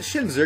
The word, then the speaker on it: Shinzo: It's pronounced Shinzo, but I'm going to call it Shinzer because I don't care about you or your feelings.